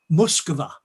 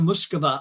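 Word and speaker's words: Москва: them on pronunciations so she insisted they always said muscova and she was doing authentic russian pronunciation so the line would come we're going to muskaba and the whole audience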